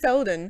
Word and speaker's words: Faeldan: Faeldan.